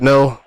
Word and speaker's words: Ngo: It's going to be Joshua Ngo. I don't know how to pronounce that. I'm just going to say Ngo. Joshua No. Is it No? Oh, so the G silent. Okay.